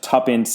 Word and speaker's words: Tuppence: the letter tant but it's spelled t wo pen CE which is of course tuppence is an abbreviation for two pence I don't I don't